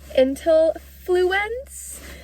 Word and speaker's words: Intellifluence: the app into fl i don't know how to say this intel fluence i have to say that really slow to say it correctly but this this one